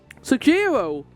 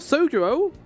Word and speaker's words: Sojiro: What's going on with the pronunciations right now? Sojiro. Not Sojiro.